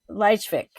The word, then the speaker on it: Lychwick: But that's basically, Lychwick is like, it's Lychwick, but his name gets said a bunch of different ways.